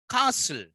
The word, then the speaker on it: castle: Then you find castle. Castle is there. T is silent.